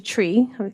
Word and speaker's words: Twi: spoken in Ghana and it's actually tree I kept saying twe because it's spelled Twi but it's tree and uh and the